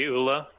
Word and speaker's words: Ula: And then the nickname will be Ula. Ula, yeah, nickname Ula. Like Oolah pronunciation, Ula.